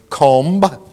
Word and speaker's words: comb: still with me um b uh in some syllables is silent as in the word comb i want to go comb my hair lamb these are things you